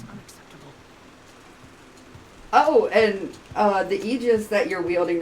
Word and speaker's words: Aegis: So probably the Aegis? Yeah. Well, I mean in like Greek. I was right, Aegis. Okay. Well, Aegis, because the stress is on the ultimate syllable.